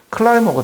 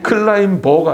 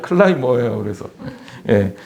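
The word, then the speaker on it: climber: 클라이머가 돼야 된다는 거예요. 여기 B는 묵음입니다. 제가 영어도 가르쳐 드릴게요. 클라임버가 아니라 클라이머예요.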